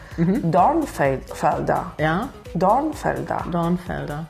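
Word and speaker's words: Dornfelder: ooh Don Felder ah you say the Earth darn Felder yeah Don Felder Dawn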